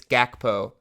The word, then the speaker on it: Gakpo: in front of you it's gakpo it's actually hackpo but no one calls him that um he said it